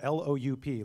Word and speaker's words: Loup: It's spelled L-O-U-P, like the French for wolf, and I don't speak French, so loup. Something like that.